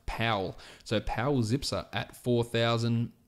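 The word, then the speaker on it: Paweł: for calling in power but apparently in German he is pronounced Pawel so Powell's ipsa at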